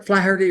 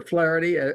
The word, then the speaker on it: Flaherty: know all right FL flery or flarity however you wish to pronounce it it is f like